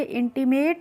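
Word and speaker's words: intimate: है साक्षात्कार अब है word I एन टी आई एम ए टी ई तो आई एन टी आई को पढ़ लेंगे हम इन टी और एम एटी ई को क्या पढ़ेंगे मेट तो इसको पढ़ेंगे इंटीमेट और इंटीमेट का मतलब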